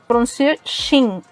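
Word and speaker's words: 秦: vem do nome dele, que em chinês se pronuncia Xin.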